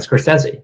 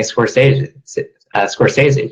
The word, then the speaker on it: Scorsese: Even Martin Scorsese. Not saying Scorsese, just as everyone always does.